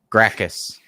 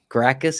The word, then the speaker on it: Gracchus: Gratius? Hold on. Gratius? Let me full scene it. Gracchus. Gracchus is Gracchus, I believe, was his name in the previous movie.